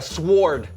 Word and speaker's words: sword: Okay, I'm gonna go with a sword. Okay, the W is silent.